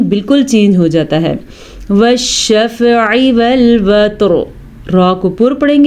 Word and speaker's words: وَالشَّفْعِ: ٹھیک ہے، وَالشَّفْعِ وَالْوَتْرِ، وَالشَّفْعِ، عین پر، عین کے تلفظ کا دھیان رکھنا ہے، پر نہیں ہے یہ، بلکہ یہ اپنے حلق سے صحیح طریقے سے نکالنا ہے۔ اگر آپ پڑھتے ہیں